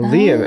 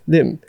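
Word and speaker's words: Liem: And then one of our Vietnamese friends from colleagues, we asked him, he's like, hey, Danny, how do you pronounce this in Vietnamese? L-I-E-M. He's like, Lim.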